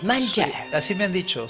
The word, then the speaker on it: Malger: Malger. Sí, Suena sí, así como francés, Malger.